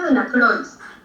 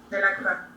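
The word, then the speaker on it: Delacroix: Este se escribe de la crois, pero se pronuncia de la de la crua.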